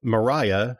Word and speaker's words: Maria: uh what's her name Mariah whose name is spelled Maria but they call her Mariah gets kidnapped or whatever